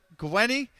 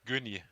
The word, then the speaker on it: Gunny: wrong the entire stream but gweny yeah is that correct no it's gunny because i'm from germany oh wow okay well